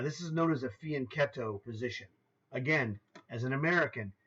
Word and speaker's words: fianchetto: spoke four languages fluently fianchetto is how you spell it if you use the rules of English but it's not English it's Italian and so it's spelled c h t o it's cetto in English but in Italian rules of of speech it's ketto so this is the